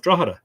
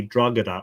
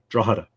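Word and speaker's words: Drogheda: live here um because an awful lot of people who've never been here or uh who tried to pronounce it for the first time will say drag or draga uh but the g is silent you actually just completely ignore the G draa um and then the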